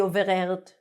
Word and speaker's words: overheard: Now we pronounce the H.